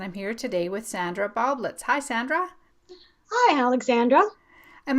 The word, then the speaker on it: Baublitz: This is It's a Mystery Podcast, and I'm here today with Sandra Baublitz. Hi Sandra. Hi, Alexandra. Am I pronouncing your last name right, by the way?